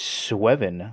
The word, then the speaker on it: Sweven: I believe the pronunciation is SWEVEN.